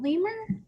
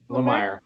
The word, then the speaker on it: Lemire: is it Lemur? Lemire. It's okay.